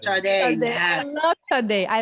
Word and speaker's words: Sade: Yeah, Sade. Sade, yeah.